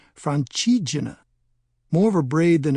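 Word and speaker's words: Francigena: The name means roughly the way through France and is pronounced Franchina.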